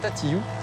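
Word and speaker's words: Tatihou: từ La Hougue rời đi hướng về hòn đảo nhỏ Tatillou. Tatillou, phát âm gần giống với bijou.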